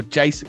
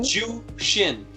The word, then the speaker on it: Jushin: And then I've gone with, is it Justin Luger or Jason? Because I watched, to try and find out how to say his name, I watched a couple of his things, and someone said You mean Jason. Yeah. Who is it? Jushin. Oh, Jushin.